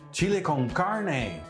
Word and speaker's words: chili con carne: Entonces claro, le saco el menú, le lo enseño y dice you mean chile con carne. Y entonces claro, ya me di cuenta cómo se pronuncia chile con carne.